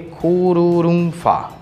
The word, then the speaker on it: Kururumhua: No item 20, temos a forma Kururumhua. Não é óbvio a partir da romanização, mas a pronúncia é aproximada do nome Kururumfa.